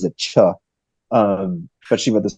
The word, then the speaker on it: Che: I've known her for like years it's she pronounces it cha um but she wrote this book called The